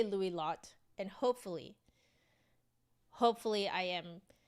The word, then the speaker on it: Louis Lot: doing really well today you do pronounce the T okay so it's Lou lot okay I'm gonna say Lou lot and hopefully hopefully I